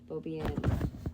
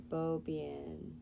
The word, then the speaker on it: Beaubien: Beaubien. Beaubien. It's fucking French, man. Beaubien. Beaubien.